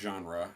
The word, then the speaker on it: genre: genre say Jean. It's pronounced genre.